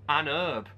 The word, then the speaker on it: herb: I realized it's because Americans say you found an herb because they have a silent h for some reason also my granddad used